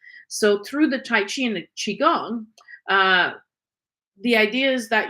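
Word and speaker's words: Qigong: have more of it the Chiang is pronounced chiong and it was developed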